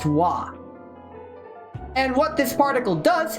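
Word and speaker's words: は: it very frequently is, it is pronounced wah.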